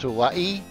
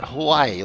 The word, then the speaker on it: Hawaii: Okay, so like the reason I keep saying Hawaii is because it's actually supposed to be pronounced Hawaii. It's not Hawaii like everyone else pronounced it, but it's Hawaii.